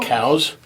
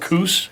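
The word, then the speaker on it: Coues: not how you pronounce cow's whitetail, and then we all laugh about it, And so Yeah. he actually likes when people, I think, Cows? challenge him a little. It's Cow? cows, not coos.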